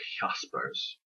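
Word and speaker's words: Jaspers: in English but he was German so it's pronounced hospice a hospice who himself in his in his own right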